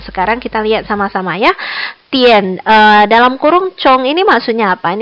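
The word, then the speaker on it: 点: Yang pertama ini bacanya adalah tian. Jangan gara-gara Hanyu pinginnya D-I-A-N, kamu bacanya dian, bukan dian ya. Bacanya tian, T-I-E-N bacanya tian.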